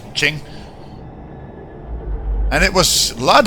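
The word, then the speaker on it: Qing: You run into Ching, well, King, but you pronounce it in China as Ching.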